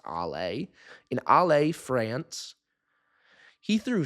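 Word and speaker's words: Alès: And judging by how I what little I know about French pronunciation, I'm going to assume that's pronounced Allay.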